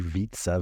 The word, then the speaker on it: Vietze: Yeah, so my name is Vietze. Vietze rhymes with pizza.